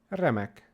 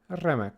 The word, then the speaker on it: remek: And our example word for today is remek, remek. So give it a little bit of a roll, not too much.